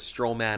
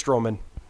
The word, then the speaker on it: Strowman: it's I'm sure it's strowman wherever it's kind of like where you put the accent on the word like you kind of like accentuate the the syllable like it's strowman strowman not strowman strowman exactly or um